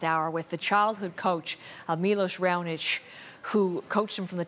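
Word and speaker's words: Miloš Raonić: Look into the camera and let us know how you pronounce your name. We've heard about 8,000 different ways to say it. Milos Raonic. Okay, Milos Raonic.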